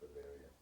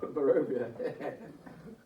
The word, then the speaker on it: Barovia: It's pronounced Bavaria. I had to double look then. you saw it. I had to look down at the thing. No, it's not. It's Barovia.